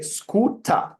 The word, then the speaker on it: scooter: as you can see in British English we don't pronounce R we don't say scooter scooter you don't say that in British English you say scooter without R which number